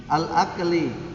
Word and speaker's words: al-akli: Kaf bukan kof, kaf. Akafli. Al-akli. Al-akli.